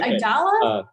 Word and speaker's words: Idalia: you usually use Dr Idol I keep saying your name wrong is it idalia yes okay um got